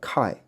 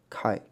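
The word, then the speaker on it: καί: 的一个连接词，叫 Kai 啊 Kai 啊 Kai 啊 Kai，在英文里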